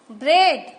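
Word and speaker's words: bread: यहाँ पर इन सब वर्ड में ए साइलेंट है. ट्रेडल, देखो ट्रेडल, ए है लेकिन मैंने ए नहीं बोला, ट्रेडल. ब्रेड, ब्रेड, ब्रेड.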